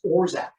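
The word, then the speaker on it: orgeat: then this is the secret ingredient this is orac It's a a Turkish uh syrup made from almonds it's spelled o r g a t but it's actually pronounced orzac it has a very almond bubblegum flavor if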